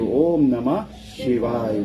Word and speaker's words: Om Namah Shivaya: Om Namah Shivaya. That's 5 syllables.